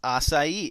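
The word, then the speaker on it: açaí: assai 101 let's get started so what is assai and yes that is how it's pronounced it's not aai or aai it's aai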